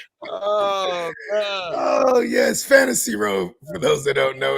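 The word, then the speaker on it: WROE: And we all live on fantasy row. Come on. W R O E. Yes. My mama. The W is silent.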